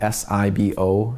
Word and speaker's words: SIBO: And then of course there's other gut issues like SIBO, S-I-B-O. Some people pronounce it SIBO, but small intestinal bacterial overgrowth, where there's bacteria where it shouldn't be in the tract.